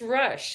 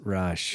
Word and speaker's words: Rusch: welcome want to make sure I pronounce that correctly it actually it's Rush it's easy to remember it is Rush yeah cool great to have you thanks for